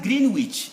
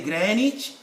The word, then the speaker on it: Greenwich: is silent it's not green witch there's no green here it's granite either you say greenwich or greenwich so the same with americans there is no this is silent the w is silent another w case of